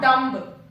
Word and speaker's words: dumb: Dumb and not dumb. Dumb. The correct pronunciation is dumb.